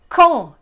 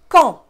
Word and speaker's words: Caen: So Caen is the first one. En is the nasal sound underlined. The A is not pronounced. The C is pronounced like a K. So really it's Caen.